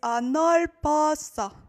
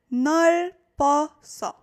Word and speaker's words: 넓었어: So it is 넓었어. 넓었어. So here you pronounce it first, 넓, and then it's as if the B up was just right here. 넓었어. 넓었어. That is how it would be pronounced.